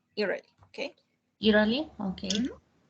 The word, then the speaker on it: Italy: Okay, the pronunciation for Italia is Italy, okay? Is what, teacher? Could you repeat? Italy. La T como si fuera una L. Italy, okay?